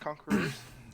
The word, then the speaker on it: Conquerors: It's pronounced Conquerors. Oh, excuse me. I forgot that there was an S there.